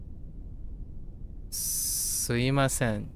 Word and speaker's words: すいません: In speech, you will often hear it being pronounced like suimasen.